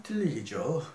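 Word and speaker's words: Tillich: 파울 틸리히죠. 이제 독일식 발음은 파울 틸리는 흔히 문화 신학자로 알려져 있고 철학적 신학자라고도 알려져 있습니다만 그의 유명한 신학적 방법론이 상관관계의 방법론이다.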